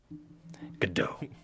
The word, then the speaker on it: Godot: I am Godot, legendary prosecutor. I never lost a case. Godot. The T is silent. Godot.